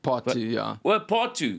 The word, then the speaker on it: Darling pt. 2: Yeah, is that how you pronounce it? Part two.